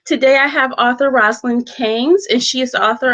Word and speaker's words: Cannes: It's Roselynn Cannes, pronounced like the can.